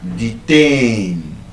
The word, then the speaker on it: detain: So, for example, we would have words like detain. It's a verb and it's stressed on the second syllable.